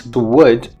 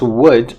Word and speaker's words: would: If you pronounce would and you do not approximate both of your lips, you might end up pronouncing something like a hood or a good.